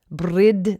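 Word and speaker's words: bryd: English as the word b-r-y-d most likely pronounced breed brid that it would have been just more of a a long I sound brid uh and then eventually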